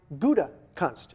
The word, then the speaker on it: Gutekunst: That would be the Gouda cheese, or shall I say the Gutekunst cheese, right? If nothing else, once and for all, that'll teach you how to say the Packers' new general manager's name. It is Brian Gutekunst.